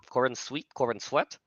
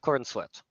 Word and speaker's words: Corenswet: Corenswet, David Corenswet.